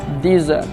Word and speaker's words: dessert: Bayangkan kemudian kalau ada orang yang mengatakan I want a plate of desert. Saya ingin sepiring pasir. Nah, seperti itu jadinya kalau kita salah pronunciation-nya. Jadi yang benar I want a plate of dessert. Saya ingin sepiring dessert, makanan penutup.